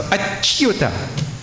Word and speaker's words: achyuta: Chu, not chew, eh? In English, people say chew. The word is chew. Say? Chew. Chew. So, achyuta. Chyuta, like that.